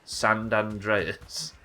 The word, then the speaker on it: San Andreas: Don't forget to pronounce San, like sand. San Andreas.